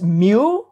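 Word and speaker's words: μ: get your average score this is pronounced as mu mean average you use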